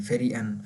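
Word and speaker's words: Ferien: ई और आई इन दोनों में से जो सेकंड नंबर पे होता है उसको हम ज़्यादा वाज़ेह करके प्रोनाउंस करते हैं, फेरी एन, फेरी एन, ठीक है। यहाँ पर एंड में ई है ना, इसको हम फेरी एन कहते हैं।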